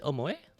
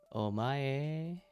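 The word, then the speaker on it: お前: Is it omoe?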